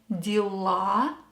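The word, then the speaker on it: дела: play tennis on saturdays pay attention to the stress in the noun de la the stress is on ah and dear led the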